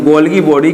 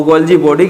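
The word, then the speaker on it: Golgi body: इसे हम गोल्गी बॉडी के नाम से भी पढ़ते हैं और गोल्जी बॉडी के नाम से भी हम इसका प्रोनाउंसिएशन करते हैं, गोल्गी बॉडी।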